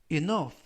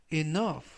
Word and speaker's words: enough: 뜻이 되겠습니다 이번 표현은 enough enough라고 발음하시면 되겠고요이 실점은 유 유는 이중 모음인데 이중 모음으로써 유가 이번 단어에서는 어 발음이납니다 그리고 끝부분에 있는 gh 이번 단어에서 F 발음이 나고요 그래서 발음은 enough enough라고 발음하시면 좋겠습니다 품사는